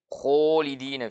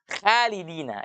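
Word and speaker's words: خالدين: huruf koe ya ya Yang salah adalah ketika kita baca Oh iya ha halidina itu tipis itu kalau sebetulnya khalidinar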